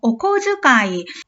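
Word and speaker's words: こづかい: 치치가 용돈을 주셨습니다 용돈 코즈카이 이거 다치 즈 즈에 땡땡이 오면 즈로 발음합니다 오즈카이 오즈 아이요 아빠가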